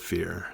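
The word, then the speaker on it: Phear: It is critical to know that Fear is spelled P-H-E-A-R, because this was the 90s, and everything had to be spelled wrong.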